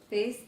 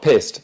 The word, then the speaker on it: pieced: so Pieced, that's it. Pieced, not pissed, as in pee-pee.